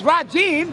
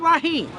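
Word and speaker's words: رجيم: One is Rajim and one is Rahim. A'udhu billahi minash shaitanir rajim. Not Rahim. Listen. It's not Rahim, huh?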